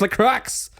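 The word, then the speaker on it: La Croix: no no no no the Crux okay it's l Crux sponsor us please no no too Chico sponsor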